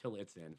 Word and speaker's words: Tillotson: Or you could just type in Tillotson, Yeah. and it's Tillotson. Yep. Tillotson. Yeah, but it's pronounced Tillotson.